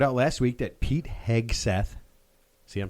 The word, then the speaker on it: Hegseth: I found out last week that Pete Hegseth, see I'm saying it right, Good job.